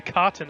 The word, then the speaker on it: katana: everything okay we got the cotton um it's a two-handed sword that's technically how katana is pronounced yeah like when we